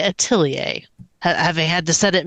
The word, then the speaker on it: Atelier: But it definitely nobody says it atellier in that game. cuz when I have to spell it, I always have to say at lear, but when I say it, I have to make sure that I say atilier, having had to set